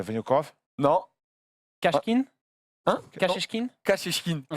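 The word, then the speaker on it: Kashechkin: Kachechkin. Ok. Kachkin.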